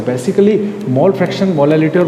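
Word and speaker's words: molality: Students, थोड़ा सा एक कंफ्यूजन यहाँ पे स्टूडेंट्स को बना रहता है, एक हमारे प्रोनाउंसिएशन की मिस्टेक और छोटी सी, मोलालिटी एंड मोलारिटी। मोलालिटी और मोलारिटी, ये 2 जो चीज़ें हैं, इनको आप खास कंसंट्रेशन करना, ये काफ़ी इंपॉर्टेंट है।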